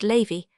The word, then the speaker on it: Lavis: There were in Madame de T.'s salon some very noble ladies named Mathan ne Lavis, which was pronounced Lavy, Cambis pronounced Cambyse.